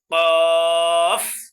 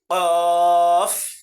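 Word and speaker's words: قاف: সঠিক উচ্চারণ কি? ফা ফা ফা ফা এর পরবর্তী শব্দ দেখেন এই দেখেন এই হরফটার নাম কি এই হরফট নাম হলো কফ কফ দুই নক্তাওয়ালা কফ যেটাকে আমরা বড় কফ বলে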